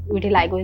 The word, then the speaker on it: vitiligo: Vitiligo is the actual pronunciation.